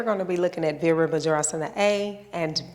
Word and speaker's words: Virabhadrasana: It's pronounced Virabhadrasana. Virabhadrasana.